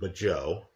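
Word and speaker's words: Mageau: Theron and Magoo, I understand many pronounce it Majo, right?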